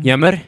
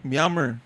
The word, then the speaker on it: Myanmar: Yammer? Myanmar. Yeah, where the fuck are you from? You don't even know how to pronounce.